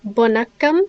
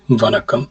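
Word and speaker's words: வணக்கம்: greet them, we say vanakkam, which means hello, and you can also say it when you're saying goodbye. Bonakkam? With a V, vanakkam.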